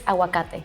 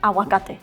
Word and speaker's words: aguacate: Aguacate. Aguacate. Oh, maybe it's just me. No, I think hers may be softer. You don't pronounce the G sound.